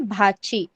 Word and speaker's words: भाची: कैसे प्रोनाउंस करना है? PUTANI, पुतणी. BHACHI, भाची.